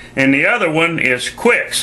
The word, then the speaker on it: Qix: And the other one is Qix, a clone of Qix, only it's spelled Q-I-C-K-S instead of Q-I-X.